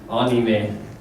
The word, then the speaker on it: anime: Everyone, of course, always says anime everywhere here, and I even say anime, so I'm guilty of this too. But when I'm in Japan, I have to switch to Japanese mode, and they go anime. Anime.